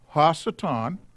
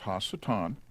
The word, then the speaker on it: ha-Satan: Ha-Satan, and that's how it's pronounced, Ha-Satan.